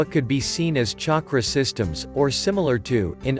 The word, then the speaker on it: chakra: The word chakra is a Sanskrit word that is spelled as chakra but pronounced with the ch sound as in church rather than the sh sound of the word shak.